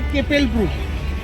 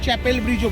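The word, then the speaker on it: Kapellbrücke: এটা হচ্ছে কেপেল ব্রুক, এইটা হচ্ছে যেটাকে কেপেল আমরা ব্রুক। ইংলিশে চ্যাপেল ব্রিজও বলে থাকি।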